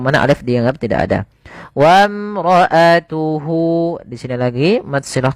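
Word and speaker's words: وامرأته: Kemudian padafal wamroatuhu di sini alifnya tidak dibaca tidak boleh tidak boleh kita baca wam enggak tapi langsung saja ke huruf mim yang mana alif dianggap tidak ada wamroatuhu di sini lagi mad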